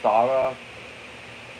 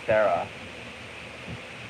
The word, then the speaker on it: Sara: Kudosara also sounds like even though it's pronounced Sara for some reason I mistake it as Sarah.